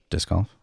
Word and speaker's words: disc golf: else about it yeah how do you pronounce it dis golf so you don't even use the C think about that really